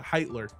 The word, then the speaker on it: Heitler: he uh started that you don't pronounce the age it's yeah it's itler today Ryan has finally